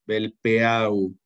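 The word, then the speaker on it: Velpeau: Aquí dice Velpo. Así se escribe Velpo. Belpeau. Belpeau.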